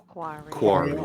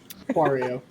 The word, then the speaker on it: Quario: Quario. I fucking love it, man. I You and your know. spelling's cool. So Wario with a Q, right? Quario. Yep.